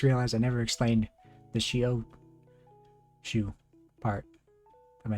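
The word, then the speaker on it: chiot: french words so shio it's not spelled like this it's c-h-i-o-t and it's the french word for puppy and so she n is dog and she-o is puppy and as you can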